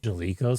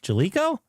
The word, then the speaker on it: Jaleco: Jaleco Sports Bases Loaded is now available on PS5, released November 20th, 2025.